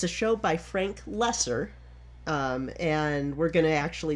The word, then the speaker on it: Loesser: It's a show by Frank Lesser, and we're going to actually be seeing him again on our journey. I Can See a Joke. Is that his real name, Frank Lesser? Yes. It's spelled Loesser, so I actually had to look